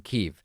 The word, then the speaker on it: Kyiv: So now it's a new spelling, Kyiv, and it's a new pronunciation, Kyiv.